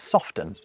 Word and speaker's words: soften: Interestingly though, no one says soften.